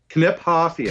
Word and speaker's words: Kniphofia: to get Nick Nick knip hafia Kip Kip hafia I always left that out at the K and obviously I'm wrong I did the same